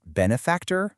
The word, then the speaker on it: benefactor: With our example word, is it benefactor or is it benefactor? Getting it right, putting the stress on that first syllable, is absolutely key to sounding natural and just being understood.